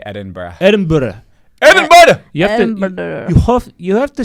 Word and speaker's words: Edinburgh: Like, it's real, like, it's going to Edinburgh would feel like the beginning of the Hunger Games, and they're all running towards the knife.